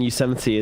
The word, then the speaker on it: Yosemite: towers under attack pronunciations as in Yosemite in America and there's a Brit guy there soca who kept pronouncing it Yasser might I mean there's plenty